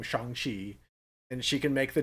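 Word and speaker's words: Shang-Chi: history oh this is this is how you actually say my name shanghi and she can make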